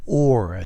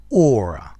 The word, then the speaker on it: aura: Aura. Yeah, I know it starts AU, so it's not owl but aura, as in author, as in audience.